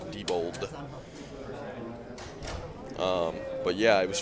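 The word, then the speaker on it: Diebold: has been a blast been a pleasure yeah Debold spelled like d i e b o l d AB d pronounced Debold um but yeah it was fun hanging out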